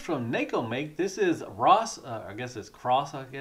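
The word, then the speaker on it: Xross: This is Ross. It's X-R-O-S-S. I think the X is silent.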